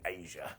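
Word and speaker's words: Asya: Number 14, Asia. So look, this is spelled AS YA and she was only called Asia cuz WCW wanted their own version of China.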